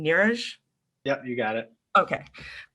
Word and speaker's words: Neeraj: near nearest i'm sorry if i'm saying your name wrong nirish yep you got it okay um is um